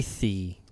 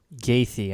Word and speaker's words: Gaethje: Gaethje. Yeah. Gaethje, I think.